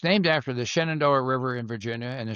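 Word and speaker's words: Shenandoah: your book is called up the Shenand uh Shenandoa, right? Yes. Okay. Did I Did I pronounce it right? You did. Yes. It's it's named after the Shannondoa River in Virginia and the Shannondoa Valley.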